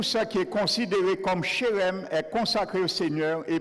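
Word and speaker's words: חרם: Le mot hébreu utilisé dans ce verset et traduit par voué à l'interdit, c'est le mot hébreu shérem. Shérem. Et n'oublie jamais, note-le. Il s'écrit, je te nomme même comment il s'écrit.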